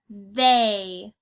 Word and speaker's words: they: Now when we see the two letters together, T and H, that makes the th sound. And then our E and Y actually make an A sound. So when we put it together, we get A.